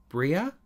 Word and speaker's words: Breagh: When I was younger, I used to have a black lurcher called Bria, pronounced Bria, yeah, which means beautiful in Gaelic.